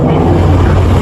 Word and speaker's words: Quaque: His name is not pronounced Quaque. His name is pronounced Kweku.